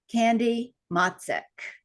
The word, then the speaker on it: Candy Motzek: wonderful new friend she is an amazing lady candy matsek did I pronounce that right you got it you got